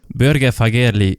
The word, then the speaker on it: Børge Fagerli: Børge Fagerli, welcome to the podcast. Thank you. And I must commend you on the pronunciation. That's one of the better ones so far.